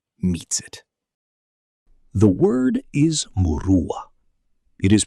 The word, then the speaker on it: Muruwwa: The word is murua. It is pronounced mua and it has no single English translation because it contains multitudes that English has never thought to combine.